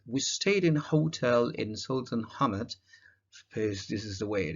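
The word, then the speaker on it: Sultanahmet: a fantastic trip we stayed in hotel in sultan hamad this is the way it is pronounced the first evening we went to a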